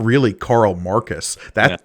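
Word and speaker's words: Korl: rogish self Carl yeah again not I'm not mispronouncing Carl it's spelled k o r l that's how I pronounced it as well yeah it's Carl uh and she's like what say you and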